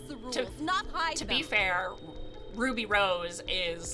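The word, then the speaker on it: RWBY: pronounced he was like it's ruby it's just like ruby rose it's supposed to be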